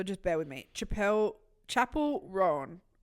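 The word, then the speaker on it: Chappell: bear with me Chapelle Chapel Ron I watched her on Tik Tok and she said Chapel so Chapel R you know that um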